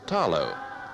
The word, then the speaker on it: talo: the Samoan diet is the Taro pronounced here with the L as talo the carefully tended beds